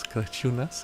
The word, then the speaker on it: Crăciunas: Crăciunas is how you pronounce it? Yes, correct.